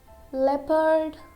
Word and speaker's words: leopard: We don't pronounce letter O. Okay? Here in some words which are given here, like people, country, leopard, favorite, and favor.